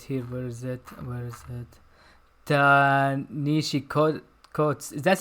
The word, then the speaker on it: Ta-Nehisi: Tanishi Coates. Is that how you pronounce his name? Dan. Yeah, Ta-Nehisi Coates.